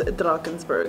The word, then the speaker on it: Drakensberg: see canada drakensberg no i think it really is just like drunken okay so the correct pronunciation is drakensberg that's what i said